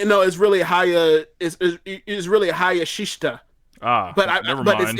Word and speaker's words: Hayashishita: That's Konami, that's Hana Kimura, that is Momo Watanabe, that is Utami Hayashita. I can't pronounce her name. Hayashishita, I think. It's really Hayashishita.